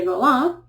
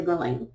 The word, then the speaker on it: Guerlain: The French pronunciation is actually Guerlain, but here in the U.S., that's usually what we say is Guerlain.